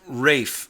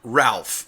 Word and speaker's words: Ralph: at me and saying that is pronounced raef Von Williams not Ralph Von Williams If you are going